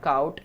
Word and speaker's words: cout: if we talk about cout like what is cout so C pronounce c out it is an object